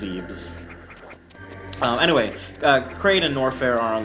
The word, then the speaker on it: Zebes: but it's officially having some trouble it's officially pronounced Zebes anyway creighton norfair are on the same plane